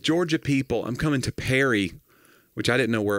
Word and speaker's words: Perry: fire shows South Georgia people I'm coming to Perry which I didn't know where it was but it's uh somewhere South can you spell that p e r r y okay like the band per was like Paris